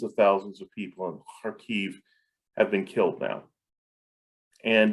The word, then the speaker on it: Kharkiv: I know that in the news you'll have seen the city of Kharkiv, or sometimes it looks like Kharkiv, but Kharkiv is the right way to say it, Kharkiv.